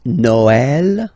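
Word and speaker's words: Noël: tricky thing is that in some cases you will have to you will have to pronounce it like e okay like for instance Noel okay but then in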